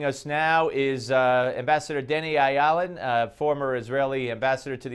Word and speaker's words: Ayalon: Actually, Ayalon is how I always pronounce it. I don't know why I said Ayalon, but anyway, good to talk to you again.